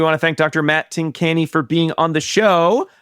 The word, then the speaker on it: Tincani: Did we say Tincani? And then talked about how it sounds like. Yes. Anyway. But Matt was very. But Tincani is correct.